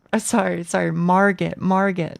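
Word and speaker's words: Margit: Marget, not Margate.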